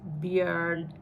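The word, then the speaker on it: Björn: the animal and so if your name is beer as in Vikings view on Ironside is pronounced beard yeah so how does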